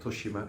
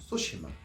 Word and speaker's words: Tsushima: that's actually pronounced and they spelled it out phonetically so I don't call it toshima it's sushima uh so I'm sure that there will be